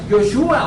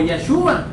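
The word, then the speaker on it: Yeshua: De hecho, la palabra Jesús en hebreo o en arameo se pronuncia Yoshua o Yahshua.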